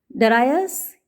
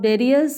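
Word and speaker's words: Darius: डरायस king of Persia, फारस का राजा है, इसको आप डेरियस प्रोनाउंस करें या डरायस, दोनों ही तरीके से इसको प्रोनाउंस किया जाता है।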